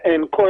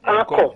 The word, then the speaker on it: accord: So the correct pronunciation for that is accord. Yeah. Accord. Right? But people don't encore.